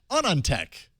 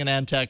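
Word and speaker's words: AnandTech: the show Brian clug senior smartphone editor at onon Tech everybody thanks for having me on it's it's awesome having you on I'm so used to saying an ante it's going to take me a little while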